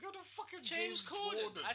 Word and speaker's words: Corden: I reckon we've got a lot more clowns like James Gordon. James what? James Gordon, the guy that does carpool karaoke. Corden.